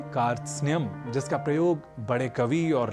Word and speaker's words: कार्त्स्न्य: इसलिए इस शब्द का उच्चारण हम सर्वथा शुद्ध करें, इसका हमें विशेष प्रयास करना है और इसे कारत सनय, कारत स्नेय आदि न कहकर हमें कहना है कार्त्स्न्य।